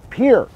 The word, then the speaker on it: Pierre: than after we filmed it looks like Pierre but we are in Pierre South Dakota that's how they say it around here it is the second smallest